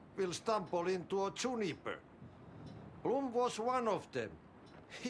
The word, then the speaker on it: Blum: Bloom like to talk. Yeah, see, he pronounces it Bloom. Everywhere else, they're calling him Blum.